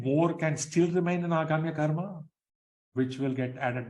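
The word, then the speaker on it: आगामी: Aghamya karma, there are two long vowels there, right?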